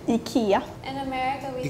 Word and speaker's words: ICA: say it again Ika so we pronounce the I very strongly EA sometimes like in